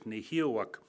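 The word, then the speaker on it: Nehiyawak: That's how you say it in the language, Nehiawak.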